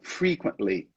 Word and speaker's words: frequently: Okay, so the emphasis is in the first one, frequently.